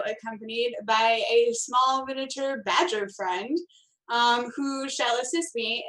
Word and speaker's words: Bajjer: But it's spelled like BAJJER. Yeah. Oh. Badger.